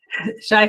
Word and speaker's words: Shai: Shai, thank you so much for joining me today.